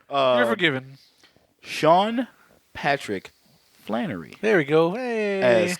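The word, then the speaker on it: Sean Patrick Flanery: could drinking been drinking that's right you're forgiven Sean Patrick Flannery there we go hey as Conor mcmanis and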